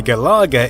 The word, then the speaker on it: Galaga: Another similarity is the name, hence why Galaga is actually pronounced with an emphasis on the la in the same way you'd pronounce Galaxian.